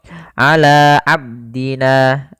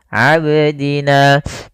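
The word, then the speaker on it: عبدنا: tidak boleh ber berhenti bagaimana cara Betulnya yaitu ala abdina ab abdina ya seperti itu kemudian pada lafalna ada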